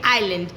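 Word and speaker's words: island: आई और एल के बीच में अगर आता है एस तो एस हो जाता है साइलेंट। इसीलिए हम पढ़ते हैं आइलैंड ना कि आइसलैंड।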